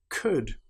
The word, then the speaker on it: could: Another time when the letter L is not pronounced is when we have the letters U, L, D. For example, the word would, could, should. In these cases, again, the L is completely silent.